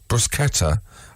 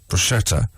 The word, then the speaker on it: bruschetta: is should be pronounced sound therefore the correct pronunciation shinobi uh should be baketa bruschetta and not bruschetta you're summoned back on florence italy it's good